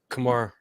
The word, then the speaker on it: Kamar: with Kamar they they what did I just mispronounced his name horribly didn't I did I Kamar yeah okay yeah I was right I was